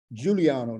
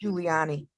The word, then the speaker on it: Giuliani: Giuliano, not Giuliano. I mispronounced. Giuliani.